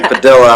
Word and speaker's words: Padilla: And we almost got into an argument last week on how to pronounce it. I was saying Padilla.